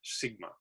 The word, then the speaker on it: SGMA: The alarming slide in California aquifer levels led to passage in 2014 of the Sustainable Groundwater Management Act, or pronounced as the acronym SGMA.